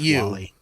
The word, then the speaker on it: Wall-E: It's just pronounced Wall-E.